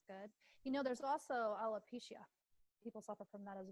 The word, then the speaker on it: alopecia: Alopecia.